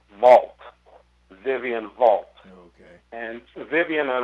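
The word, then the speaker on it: Walp: uh vivian vivian uh her last name is spelled w-a-l-p but because she is uh a south african native who worked for newsday her it was pronounced vault vivian vault and vivian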